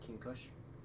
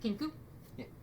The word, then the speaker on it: kingsweed: And this world is pronounced King Kush. Not to be mistaken with Kinku.